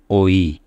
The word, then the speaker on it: ঐ: এরপরের বর্ণটি হচ্ছে ঐ এখানে দুটো স্বরধ্বনির মাধ্যমে আমরা ওই শব্দটি উচ্চারণ করে থাকি আমি নিচে লিখে দিয়েছি ও যোগ ই ও যোগ ই ওই এটা যখনই আমি শিশুদেরকে